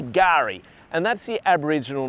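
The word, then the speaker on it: K'gari: day Fraser Island or the other name for it is gar spelled with a silent k so it's kagari if you were to spell it fanatically but it's a silent case so we say Gary and that's the Aboriginal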